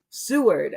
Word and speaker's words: Seward: Su Greenberg New York how do you say your last name Seward Seward okay I'm digging it